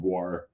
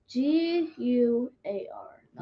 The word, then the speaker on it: Gwar: Because I thought it was like Guar. Nope.